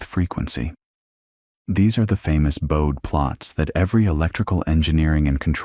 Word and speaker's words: Bode: Bode, whose name is pronounced Bode, even though everyone wants to say Bode like the English word, developed a different but related graphical technique.